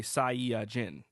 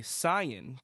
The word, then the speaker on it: Saiyajin: planet so in turn you get saiyajin which i believe is like five syllables it's actually saiyajin and when translating we say sayan because i mean first